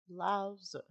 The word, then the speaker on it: Lao Tzu: Lao Tzu.